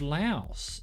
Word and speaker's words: Laos: National Specific Economic Zone of Laos. Or Lao, I shouldn't be pronouncing the S perhaps.